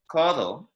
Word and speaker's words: codo: So for me, with a word like codo, I don't make my D in the same way as I would in English, yeah? I would place my tongue more against the roof of my mouth. Codo. Codo. Codo. Codo. So it's very, very soft sounding. You almost don't hear the D at all.